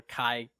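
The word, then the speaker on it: χ: that legendary Keyblade or Chi because it's like it's like the Greek letter Chi but they pronounce it key because key blue god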